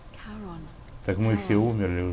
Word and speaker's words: Charon: It's just as you described it, only your pronunciation is a little off. The name you heard wasn't it was Charon. Charon.